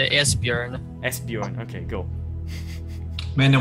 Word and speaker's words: Esbjörn: you and say it's pronounced Esbjörn.